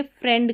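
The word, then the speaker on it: friend: यहाँ पर देखिए एक्सेप्शन है कि यहाँ पर आई ई है और इसका ए करके उच्चारण हो रहा है, ये फ्रेंड करके पढ़ा जाएगा अलग से, ये अपवाद है, एक्सेप्शन है। यहाँ पर ये स्पेलिंग रूल को फॉलो नहीं करती है।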